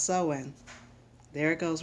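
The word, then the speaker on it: Samhain: this right yes when oh so it is pronounced sowing there it goes right there in the pagan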